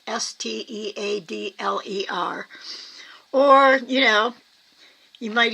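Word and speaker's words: Staedtler: There's a brand, Stedler, I think it's pronounced. It's like Steadler.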